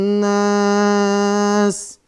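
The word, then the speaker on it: الناس: Qul a'udzu birabbin nas. Nas. Mad arid tuh ya. Sinya disukun. Sinya disukunkan. Kita lanjut. Malikin nas.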